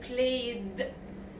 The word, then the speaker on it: played: So I put what I say, ED is pronounced as D. Like played, played. Okay?